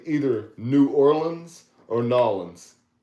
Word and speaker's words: New Orleans: I would tell them if they wanted to say Nolans, they shouldn't have spelled it capital N-E-W, capital O with a space, capital N-E-W, space, capital O-R-L-E-A-N-S. I think they should have, it's like Illinois, they should have, do they say Nolans? They say New Orleans or New Orleans? No, Nolans.